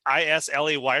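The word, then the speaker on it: Islay: ever just uh instead of like the isla i-s-l-a-y region it's called isla the island isla the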